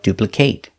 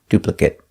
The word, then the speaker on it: duplicate: If it's a verb, pronounce it with the long a like duplicate. If it's not a verb, pronounce it with a short sound, duplicate.